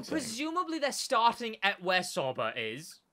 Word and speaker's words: Sauber: It's spelled Sauber, so I don't want to hear it from you. It's Sauber, all right? That says Sauber.